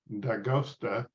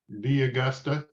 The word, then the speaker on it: D'Agosta: So I saw this one for Josephine, also known as Josie D'Agosta. D'Augusta. D'Augusta is how they say it. In Italia we say And, d'Agosta. D'Agosta, noi diciamo.